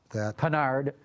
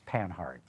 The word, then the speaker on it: Panhard: Panhard, more like the French way of saying it, whereas I think most English speakers would call it Panhard. Right. I can't even pronounce it the way the French do.